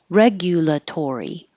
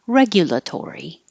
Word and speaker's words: regulatory: say Creak just creep this one has a lot of syllables but they're all pretty easy to pronounce regulatory regulatory you can also say gya because it's not stressed regulatory regulatory regulatory this